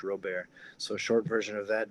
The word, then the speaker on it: Robert: is uh jrobes my last name is spelled like Robert but it's um Cajun French real bear so short version of